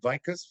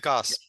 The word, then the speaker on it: Vikas: So we have a new one, Vicus, did I say it right? Vicus? Yes. Vikas. Vikas, okay.